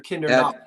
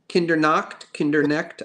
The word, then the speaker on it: Kindernecht: Kindernecht or Kindernacht? Kindernecht.